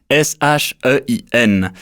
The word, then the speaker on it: Shein: Je m'appelle Damian Vega et aujourd'hui on va parler de Shein, S-H-E-I-N, à prononcer Shein.